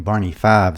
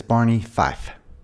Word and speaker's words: Barney Fife: My wife says it sounds like I'm saying Barney Five sometimes. Well, see, I used to say it like that a lot when I was a kid. I thought his name was Barney Five. So, for the record, I do know that it is Barney Fife.